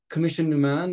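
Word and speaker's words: Coimisiún na Meán: online this new commission commission num man as it is pronounced in Irish will also host the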